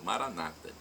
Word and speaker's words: Maranata: de Jesus o Aramaico para o português nós colocamos a tônica na última sílaba nosso católicos os evangélicos ou protestantes nossos irmãos separados colocam a tônica na penúltima sílaba Maranata mas o resultado é